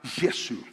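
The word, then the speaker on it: یسوع: llama a Jesús y se pronuncia la palabra yesu y este nombre en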